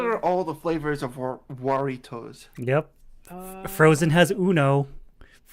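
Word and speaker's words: Jarritos: Waritos. Yeah. Like, it's Jaritos, but it's... You pronounce the jar like wah.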